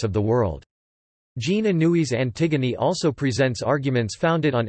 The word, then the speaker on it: Antigone: In English, it is often distinguished from its antecedent by being pronounced in its original French form, approximately, Antigone.